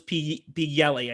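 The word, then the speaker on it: Pileggi: Nicholas P. Yelly, I think his name is.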